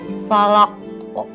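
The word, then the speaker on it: فلق: Bukan falak, tapi falak. Harus banget falaq. Ya, karena ada hukum qalqalah. Jadi dibacanya falak. Falaq.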